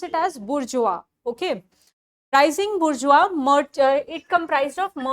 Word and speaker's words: bourgeois: Okay, you pronounce it as bourgeois.